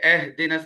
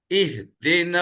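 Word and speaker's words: اهدنا: نہیں ہوتا، یہ تو اردو میں ہوتا ہے اے، عربی میں تو اے ہے ہی نہیں، اے آئی ہے یا ای ہے، اے اے لفظ تو عربی میں ہے ہی نہیں اس قسم کا تلفظ، تو لہٰذا یہ اہدنس نہیں، اہدنا الصراط المستقیم، اہدنا الصراط الصراط یہ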